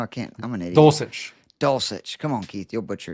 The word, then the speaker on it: Dulcich: I may punt on tight end and just play Bellinger and Dolch. How do you say it again? I know I can't. I'm an idiot. Dulcich.